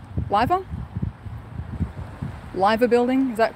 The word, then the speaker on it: Liver Building: Oh, Liver. Liver? Liver building, is that correct, Zan? Liver building, as in lie.